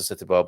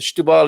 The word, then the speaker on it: Setúbal: I do try and say Stubal, and then I forget and I go back to Setúbal. But Stubal it is, for as long as we can remember that.